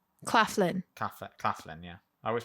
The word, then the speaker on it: Claflin: And Sam Clifton. Claflin. Claf. Claflin. Yeah, I always pronounce it.